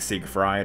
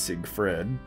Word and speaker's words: Siegfried: with no ii II so it's not sick fried it's Siegfried you know of course